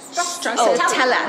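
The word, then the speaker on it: stracciatella: You have to say it like this. Strossiatella. Oh, you got to move the hands.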